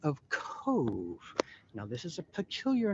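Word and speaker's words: Cobh: it would be pronounced cobb like corn in the cub but it's actually cove like a marina so if you read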